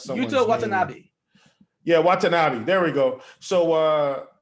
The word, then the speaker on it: Watanabe: get these names right i don't want to mispronounce something yeah watanabe there we go so uh so yeah that